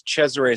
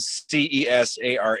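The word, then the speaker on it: Cesaray: I was growing up, nobody knew how to say Chzure or so and it's spelled C E S A R A Y. So, everybody would, you know, the teachers and stuff like that, they would call me Cesare or Cesar or Queser.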